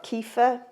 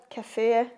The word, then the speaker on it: kefir: a little bit of kefir cafir kefir however you want to pronounce it it is essentially fermented